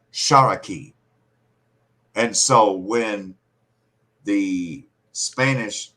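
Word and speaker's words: Tsalagi: And they pronounced the L like an R. So Shalagi or Salaki, Shalaki, in their accent sounded like Sharaki.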